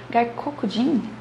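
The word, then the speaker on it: 外国人: Gaikokujin é estrangeiro, tá? E a ênfase é no ko.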